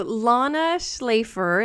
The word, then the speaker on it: Lana Shlafer: goodness you are in for a treat so Lana schlafer and is that the correct pronunciation I should have yes it is I